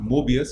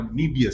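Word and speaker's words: Möbius: It's not Mobius, it's actually a Mobius syndrome. That's how it's pronounced.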